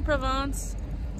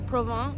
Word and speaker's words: Provins: So we just got to Provins. Or Provins. I don't think you're supposed to pronounce the S, but you know, whatever.